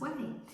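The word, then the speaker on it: Ouai: uh heat protection spray from a company called whey so it's ou ai pronounced way and this is as i said the heat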